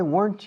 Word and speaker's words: weren't: And yesterday morning, why weren't you in class? Why weren't you? Aren't you? Weren't you? Ambos una sola sílaba. Aren't, weren't.